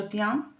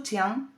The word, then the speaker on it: tiens: La primera, la segunda y la tercera persona del singular se pronuncian igual, je tiens, tu tiens, il tient.